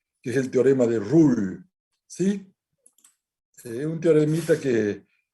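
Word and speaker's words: Rolle: Son de Ruhl, Lagrange, que voy a empezar por el de Ruhl, que se escribe Rollie.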